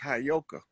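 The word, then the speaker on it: heyoka: like I know you that word is properly pronounced hayoka the hyoka is the priest for that to be tapping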